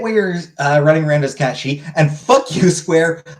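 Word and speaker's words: Cait Sith: Also, the bit where you're running around as Cat She, and fuck you, Square, I will not pronounce it wrong. It's Cat She.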